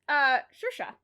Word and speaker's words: Saoirse: It's Saoirse.